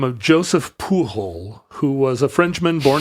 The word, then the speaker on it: Pujol: Well, no, if he's French, it would be Pujol. Pujol? Yeah, right? Pujol? I think Pujol. Pujol. Yeah. So luckily he's not Spanish. Yeah, right, okay. You're right. The J wouldn't be a H in French.